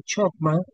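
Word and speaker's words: חכמה: otras maneras parecidas, pero siempre la pronunciación refleja chocma chma empieza por J porque la J y la ch en hebreo suena muy parecido.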